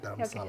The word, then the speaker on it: Dharamsala: Dharamsala.